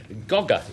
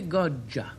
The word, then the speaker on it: Goggia: Gogga is the way I pronounce the next word. Arthur? It's actually Goggia.